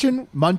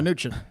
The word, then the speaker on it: Mnuchin: Did you that say the US Munchin? No. I said Munchin. I said Mnuchin. Yeah, Mnuchin.